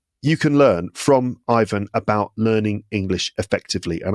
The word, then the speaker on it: Ivan: But I think the original name is Ivan. But you can do it Ivan if that's more comfortable. Ivan is definitely the way that the name is pronounced in the UK.